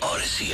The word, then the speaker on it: Audacy: Download the free Odyssey app, AUDACY, and take us along wherever you're going this summer.